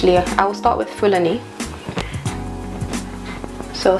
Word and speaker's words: Fulani: I will start with Fulani so some people pronounce this Fulani if you're from Nigeria like I am you pronounce it Fulani yeah so I'm just